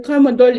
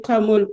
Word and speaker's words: tramadol: Alors, le tramadol est appelé tramol par prononciation erronée dans le milieu.